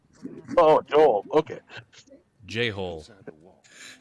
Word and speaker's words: Joel: Phonetically, that's a really funny name. Joel. Joel. It's like hole with a J.